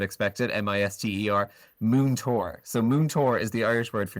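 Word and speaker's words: múinteoir: So Moontor is the Irish word for teacher. So it's pronounced like moon, like the moon in the sky. Tour, like you're going on a tour of a park or something.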